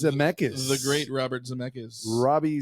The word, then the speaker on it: Zemeckis: How do you pronounce his last name, Robert? Zemeckis. Zemeckis.